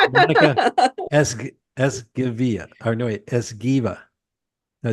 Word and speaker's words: Esgueva: I gotta pronounce it right. Thank you, Monica Esgueva. Or no, wait, Esgueva. Did I say that right? That's perfect. That's Esgueva.